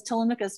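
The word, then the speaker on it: Télémaque: right i'm always like telemachus what is it how you nailed it how would you say it in french how would you pronounce that uh it was telemach okay good to know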